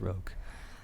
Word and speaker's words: roque: It's pronounced roque.